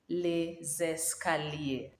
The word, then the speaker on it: les escaliers: are le escalier but now if the noun starts with a vowel we join the last s on the article so that they form the sound is so and then the word becomes les escalier les escaliers we are saying correct